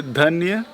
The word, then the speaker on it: Dhanyavad: Dhanyavad. Oh my god. Practice. Dhanyavad. Danian what? Dhanyavad. Daniel what? I can't You can say Dhanyavad. Danya? Danyawad. Right. Daniel? Dhanyavad. What? Danyawad. Yes.